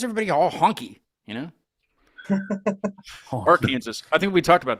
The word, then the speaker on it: Arkansas: wondering why why people why we pronounced Kansas like Kansas but then Arkansas Arkansas and I was like